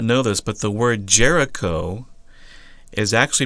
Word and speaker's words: Jericho: you may not know this but the word Jericho is actually pronounced yerico and or the word actually means it's Moon